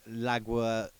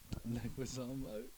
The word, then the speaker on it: Leguizamo: Because when I read that thing down earlier, you was on about that John Laguazamo. Yeah. I had to do phonetically. Leguizamo.